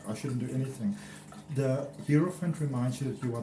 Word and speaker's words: Hierophant: The Hierophant, or the Hierophant as some pronounce it, it's all about new beginnings.